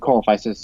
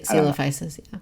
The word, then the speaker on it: Coelophysis: I mean I think coal faces or is it Coelophysis or coal prices Coelophysis it's Coelophysis okay I just gotta I gotta try to pronounce it like sealers yeah yeah okay um